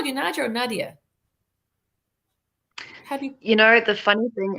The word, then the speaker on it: Nadja: the funny thing is my name i'm from south africa but my name is not south african it's russian so beats me how to actually pronounce it because the way that i pronounce it is not how other people pronounce it oh it's not funny